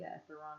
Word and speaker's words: Etheron: Etheron is how you pronounce it, which is a cryptocurrency.